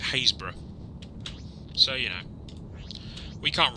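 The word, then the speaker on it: Happisburgh: For instance, Norfolk, which isn't far from where I live, has a place up on the coast that is spelled Happysburg, and we pronounce it Haysborough.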